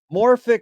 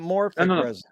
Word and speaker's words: morphic: 15 years ago and it was morphic resonance not moric it's his approach it's